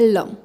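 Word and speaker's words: लं: इनके अलावा जो मूलाधार का बीज मंत्र है वो है लम, म के साथ इसकी प्रोनाउंसिएशन होगी लम, ठीक है.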